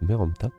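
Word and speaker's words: Merneptah: d'excellentes questions alors résumé de faction fils de meromta maintenant je sais comment ça se prononce meromta héritier du trône d'Égypte donc on est l'héritier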